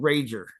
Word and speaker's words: Raedger: I met this band called Rager. Raedger is how it's spelled.